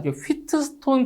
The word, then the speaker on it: 휘트스톤: 자, 이 용어 자체가 휘트스톤 브리지라고도 하고요. 영어 발음의 차이니까 휘스톤 브리지라고도 하는데, 자, 일단 가변 저항.